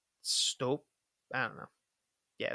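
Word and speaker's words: Støp: It's spelt stop, but with like a line through the O Yeah, I couldn't tell you. because that's I think it's pronounced step. It's like a long, gross sounding O, like a step, like a strope. It's like the Oleg, so stope.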